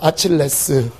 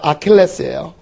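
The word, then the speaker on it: Achilles: 아칠레스. 그죠? 아칠레스는요, 절대로 죽지 않아요. 그죠? 이게 뭐예요, 선생님? 근데 발음을 하시면 알게 됩니다. 아킬레스예요. 이거 아킬레스입니다.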